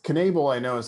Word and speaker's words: Knebel: how to pronounce that last name but it's knable i know is how to pronounce i just can't remember the first name